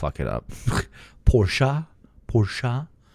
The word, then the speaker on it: Porsche: Man, Americans, even when they tried to properly pronounce uh the name of the car, still it up. Porsche.